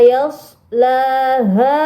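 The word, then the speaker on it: يصلاها: ayat yang ke-15 la yashlaha illal asqo nah teman-teman di ayat yang ke-15 di sini ada huruf Shad sukun ya jadi bacanya bukan Yas tapi Yas pakai Shad bukan Sin yashlaha Mari kita ulang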